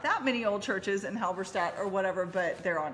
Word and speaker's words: Halberstadt: Halberstadt.